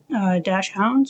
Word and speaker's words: Dachshund: We've got some cute little stickers here, little dash hounds or Dachshunds, however you want to pronounce it. I say Dachshund, but I guess dash hound is also correct.